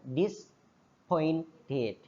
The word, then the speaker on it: disappointed: Tapi dibacanya a enggak dibaca sehingga dis pointed sopan polite miskin miskin